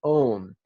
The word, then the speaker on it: om: On the out-breath, we're going to intone the syllable om. In brackets, I've written out the word home and underlined the O and the M. So in other words, as if to infer om as in the word om.